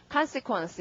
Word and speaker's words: consequence: 자, 그래서 앞에 강세, 근데 우리가 consequence, con 이렇게 읽었었죠? 네, 앞에 강세가 있기 때문에 이제 실제로는 발음이 어떻다? consequence 이랍니다. 자, O 스펠링 강세 받으면 아니까요.